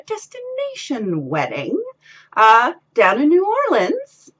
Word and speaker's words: New Orleans: wedding uh down in New Orleans or nollans New Orleans I guess it depends what part of the country you're from nollans I think is how the locals say it um yeah down Louisiana